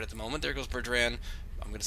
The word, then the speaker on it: Burdrann: Burdrann, sort of like that drum, the Boran, but with 9 N's in it, and a bunch of Celtic Q's.